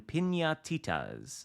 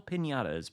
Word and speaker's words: piñatas: Join various activities this update to earn pinatas. I've been mispronouncing it. Little piñatas.